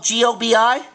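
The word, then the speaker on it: goby: How do you spell that? Oh, G-O-B-I?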